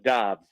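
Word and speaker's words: Doubs: whatnot this romeo where is it dobbs or dubs he seems to be a packer media guide says dobbs okay it's d-o-u-b-s but it's pronounced there's a lot of chatter about that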